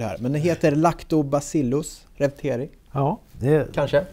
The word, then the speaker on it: Reuteri: Men den heter Lactobacillus reuteri. Ja, kanske? Ja, vi säger ju Reuteri. Reuteri, det uttalas på hur många sätt som helst. Det finns...